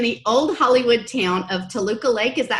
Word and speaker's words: Toluca Lake: currently lives in the old Hollywood town of Toluca Lake is that how you pronounce that yeah I've been there yet where